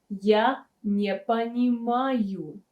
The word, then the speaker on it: я не понимаю: Е is pronounced as E because it's not stressed.